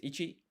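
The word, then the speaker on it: 一: And as a kanji, this is ichi and then this is man. And basically I'm writing the appropriate hiragana above the kanji. I think it's called furigana. Just so you know, this is pronounced ichi and this is pronounced man.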